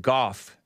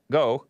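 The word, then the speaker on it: Gough: Kevin Goh, I pronounced it Goff in the Hake News, but somebody said I think his last name is pronounced Goh, G-O-U-G-H. And I pronounced it Goff, but they say Goh.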